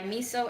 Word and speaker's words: Miso: It's called R10 by Miso Extra. Miso, spelled like the condiment, M-I-S-O.